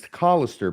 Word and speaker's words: Callister: Does that mean that and it's Callister, by the way, you habitually mispronounce his last name.